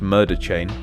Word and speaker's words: MRDR Chain: full under the name mrdr chain pronounced murder chain to the developers Channel